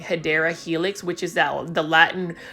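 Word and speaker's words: Hedera helix: could probably put a hedra helix or the correct way to say it is hadera Helix English ivy and for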